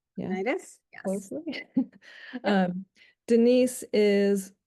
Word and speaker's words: Laurinaitis: Did I pronounce that right? Yeah, Laurinaitis?